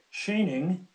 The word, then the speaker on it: Schoening: members of the committee my name is shaning I'll spell it out it's s c h o e